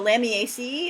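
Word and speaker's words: Lamiaceae: it's coleus scutillarioides right we're always pronouncing all of the uh vowels um in the lamyacey and the lamiali so if you look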